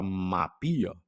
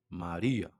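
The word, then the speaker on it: Μαρία: no começo confunde e você olha ali e fala mapia, não é? Não é mapia, lembra que é um rô, Maria?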